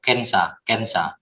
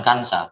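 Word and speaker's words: 検査: kita cobalah kanji chosa atau kensa ya, bukan kansa, kensa.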